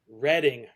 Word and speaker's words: Reading: It's the Sundays reading writing and arithmetic. I did not know that's how you're supposed to pronounce that. But that's one of my f most favorite albums of all time. I loved the Sundays. Is reading is a place. Yeah, in England.